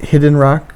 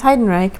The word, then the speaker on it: Heidenreich: They call it Hidden Rock? No, it's Heidenreich, but most people mispronounce it as Heinrich. It looks like Heinrich, but it's Heidenreich.